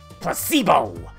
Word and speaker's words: placebo: Cavallari repeat after me placebo the stress on the middle simple syllable recibo Splenda so charming